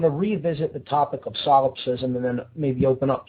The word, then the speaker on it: solipsism: lie and that is the ideology known as solipsism that's spelled s o l i p s i